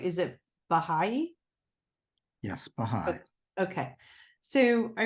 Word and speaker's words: Baha'i: wrote down and I don't know if I'm pronouncing this right is it Baha'i yes behind Okay so I wrote from there